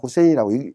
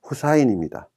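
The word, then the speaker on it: حسين: 아랍 사람 이름 중에 후세인이 있습니다. 우리 많이 들어봤습니다. 사담 후세인 됐든 시아파들이 추종하는 그 후세인이 됐든 후세인이라고 보통 다 얘기합니다. 아랍인 100명이면 100명 다 후세인이라고 읽습니다. 근데 실제로는 후사인입니다. 그러나 후사인이라고 읽는 사람은 없고 다 후세인이라고 읽고, 자, 레바논의 수도를 바이루트인데 베이루트라고 읽습니다.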